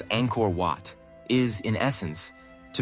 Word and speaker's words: Angkor: In Khmer, the first word Angkor begins with a soft, open A, as in father, followed by a nasal ng sound, like the ending of the English word song.